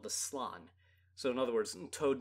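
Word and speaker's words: Slann: is a sect of the lizardmen called the slan so in other words toad men that basically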